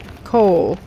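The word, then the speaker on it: Kole: work out really nicely there's a person whose name is spelled k-o-l-e that's interesting um cole of course so let's go back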